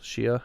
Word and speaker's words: Shia: So I didn't realize prior to this that he's like the re leader of the Shiat Muslims. Shia, how you pronounce it?